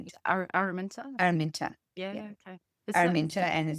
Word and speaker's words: Araminta: Araminta.